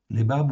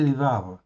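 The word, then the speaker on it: לבב: Ok, donc c'est lévab ou lévave. On peut prononcer lévave.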